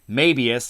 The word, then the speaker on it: Mebius: It's this show called Ultraman Mebius. Yes, the pronunciation is like the Japanese would say the strip, the Mebius strip.